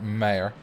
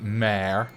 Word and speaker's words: mere: always good in english i like the word mere i don't know why but i really like the word mayor or some people like to pronounce it mare which is just female horse how many cars do